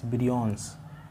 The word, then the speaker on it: virions: Breon इसकी spelling है VIRIONS, ब्रियोन्स, Breon भी बोलते हैं।